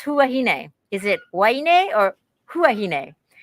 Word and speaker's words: Huahine: as h but that the locals pronounce h and they say huahine well interestingly enough so